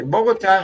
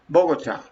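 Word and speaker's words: Bogotá: clear by the way bogota has an accent what is the accent it's here bogota okay even though you pronounce it differently in english okay observe the difference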